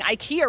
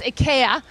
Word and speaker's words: IKEA: on jimmy kimmel where we learned that all of us have apparently been pronouncing ikea wrong this entire time it's ikea i guess uh but this is